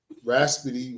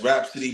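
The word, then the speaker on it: Rapsody: Raspity, I think that's how you say it. Rhapsody. Yes, Rhapsody. But there's a couple of like real.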